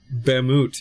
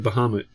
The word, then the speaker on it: Bahamut: weird things stuck around like um bammo instead of Bahamut it was like everybody